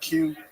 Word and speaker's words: QI: I don't know how you say it. It's an Asian restaurant. Ki. Yeah, there you go.